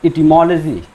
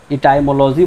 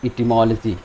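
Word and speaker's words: etymology: Lecture 2 में इटिमोलॉजी। ये क्या है? इटिमोलॉजी। इसको बहुत से लोग इसका प्रोनाउंसिएशन गलत करते हैं, इटाइमोलॉजी बोलते हैं या इटिमोलॉजी बोलते हैं। तो आज आप इसको करेक्ट कर लें।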